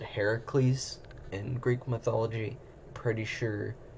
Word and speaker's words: Heracles: uh but so just know when I say Heracles it I mean Hercules um so don't get